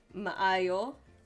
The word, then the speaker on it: maayo: Di maayo. When it's Bisaya, when it's Filipino, you pronounce both A's.